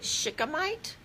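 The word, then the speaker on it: shikimate: heard of this word I'm going to spell it for you it's SH I ki ma te and I think you pronounce it Shikha mite all right so the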